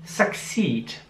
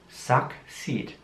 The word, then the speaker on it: succeed: Succeed. Man sieht, dass das Wort mit C und S geschrieben wird und das C wird wie ein K ausgesprochen. Suck. Und dann seed. Suck, seed. Succeed.